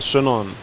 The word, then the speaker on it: syndereN: He pronounces both names the Danish way, which no one else does. So it's very weird for me to hear it. It's Trolls and syndereN.